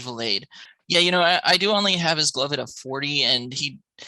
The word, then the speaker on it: Vilade: I know you always say Vilade, but it is indeed Vilade.